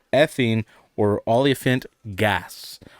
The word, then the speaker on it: olefiant: also called ethene or olefiant gas. Olefiant rhymes with elephant, and we're talking about high BMI.